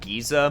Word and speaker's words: geyser: so sorry literal magma wait giza my dictionary lists that pronunciation but i've never heard it wait really hopefully can safely say i've never heard it pronounced giza before always geyser also i'm not